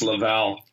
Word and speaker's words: Laval: for you people with your American accent it's pronounced Laval Laval I'm sorry I'm sure that's not gonna